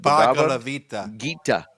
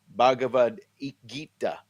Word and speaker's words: Bhagavad Gita: Bhagavad Gita. Bhagavad Gita.